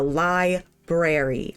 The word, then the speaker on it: library: of library it's like it's spelled with the r in front of the a why would it not be pronounced it is it is a lie brary i am a librarian